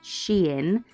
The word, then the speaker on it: Shein: Shein, that's how it's pronounced. I checked. It's been confirmed.